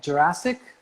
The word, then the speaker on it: Gjurasic: Jurassic? Just like the park.